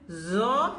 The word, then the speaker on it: Zaw: And zaw has buzzing sound.